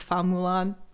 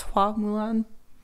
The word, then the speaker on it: Hua Mulan: name is in the original animated movie is Fa Mulan, but they changed the pronunciation to be more accurate. So it's Hua Mulan.